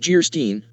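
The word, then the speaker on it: Geierstein: And of Guyerstein, pronounced Gerstein, or the maiden of the mist, by the author of Waverly.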